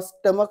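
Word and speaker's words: stomach: लक्षात ठेवा कारण की जेव्हा स्टमक नावाचं स्पेलिंग येतं त्याच्यामध्ये सी एच चा उच्चार हा क होतो ओके पण या स्पिनच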